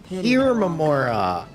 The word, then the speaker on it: Hermora: The aliens called my master Hermora. Hermora. That's how it's pronounced.